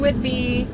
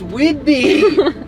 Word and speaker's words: Whidbey: here it is Captain Whitby welcome Captain wait B it's Whidbey once I say it